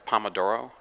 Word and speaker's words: Pomodoro: that thank you pop I can't ever pronounce that word it's Pomodoro I love Pomodoro makes me